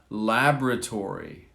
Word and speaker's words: laboratory: be pronounced several ways laboratory laboratory so we don't pronounce all the letters here laboratory we don't say